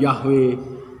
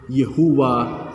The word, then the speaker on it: Yahweh: Kata ini diterjemahkan dari 4 huruf dalam bahasa Ibrani, YHWH. Kata ini kemudian diucapkan Yahweh, Yehuwa, Yehova.